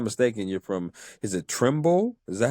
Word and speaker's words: Trumbull: if I'm not mistaken, you're from Is it Trimble? Is that how you say it? Trim. Is it? Yeah. I I'm from around there. Yeah. Trumble.